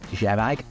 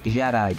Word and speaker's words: Kjerag: An unusual name, to say the least, but most people are pronouncing Kjerag with a silent K.